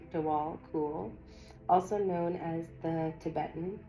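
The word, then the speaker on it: Djwal Khul: Dwal Koul, pronounced Dwal Koul, also known as the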